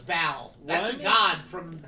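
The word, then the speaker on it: Baal: Ball. I have no resources to my life. Yeah, so B-A-A-L is bow.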